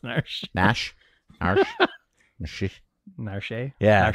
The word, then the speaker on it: Narshe: I mean, I think it's pronounced Narsh. Nash. Narsh. Narshe. Yeah, Narshe.